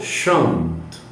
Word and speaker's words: chantent: ENT non è pronunciato. Chante. Les petits oiseaux chantent.